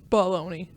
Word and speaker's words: bologna: Bologna. It's baloney.